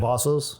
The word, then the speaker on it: Cavazos: Carlos I always mispronounce Carlos' last name. Cavazos?